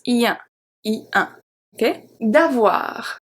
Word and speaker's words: avoir: D'avoir. D'avoir. O-I make the sound wa. Wa.